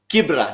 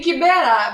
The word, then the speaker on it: Kibera: And we saw the videos of him taking hand sanitizers to Kibra. Now I know how to say it. Ni Kibera, but it's okay. Alisema Kibra.